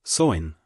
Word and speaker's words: Samhain: This festival was called Samhain, pronounced sow-in, and took place on